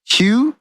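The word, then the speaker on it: Haug: Hugh, like with the G, like but you spell Hugh like H-A-U-G. Yeah, Hugh. Like the G is silent.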